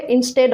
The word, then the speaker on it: instead: আমাদের next rule হচ্ছে ইনস্টেড অফ। ইনস্টেড অফ এর অর্থ হচ্ছে বদলে অথবা পরিবর্তে। এর উচ্চারণটা কিন্তু হবে ইনস্টেড অফ, নট ইনস্টিড।